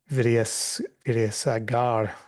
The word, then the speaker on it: Vidyasagar: And so Ramesh continues to outline two stories of the life of Vidyasagar, pronounced probably butchered that pronunciation, massacred the pronunciation, Priyank, but you can help out in mending that.